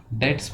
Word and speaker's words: debts: डेट्स बोलेंगे इसमें B silent होता है।